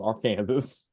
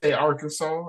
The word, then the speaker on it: Arkansas: You can be fined for saying this state name wrong. Really? So you need to say Arkansas instead of That's Arkansas. crazy.